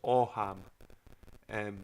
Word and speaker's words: Ogham: It's spelled Ogham, like Ogham, Ogham, but it's pronounced Oham.